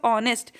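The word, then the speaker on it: honest: तो एच हमारा, जब आप बोलते हो ऑनेस्ट, तो ऑनेस्ट बोलते समय ओ आ से ओ होता है ना, तो वही प्रोनाउंसिएशन निकलती है इसकी ओ की, ऑनेस्ट, तो इसलिए एन ऑनेस्ट,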